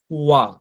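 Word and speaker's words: は: এখন আমি যে ওয়া ওয়া বলতেছি আপনি তো দেখছেন এখানে হা। কিন্তু আমি বলতেছি ওয়া। তো দেখেন এখানে সতর্কতা লেখা আছে সতর্কতা যে এখানে সতর্কতা এটি লিখা হয় হীরাগানা হা দিয়ে আর কি হ্যা কিন্তু উচ্চারণ করতে হয় ওয়া তো এটা তো সতর্কতা এটা তো মনে রাখতে হবে যে এটা যেহেতু পার্টিকেল এটা হা আছে কিন্তু উচ্চারণ করব ওয়া কিন্তু এটা কখন ইউজ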